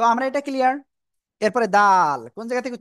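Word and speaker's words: دال: জিহ্বার আগা উপরে দুই দাঁতের গোড়ায় লাগান, লাগান লাগান, লাগিয়ে তিন আলিফ টানে উচ্চারণ করেন, দাল।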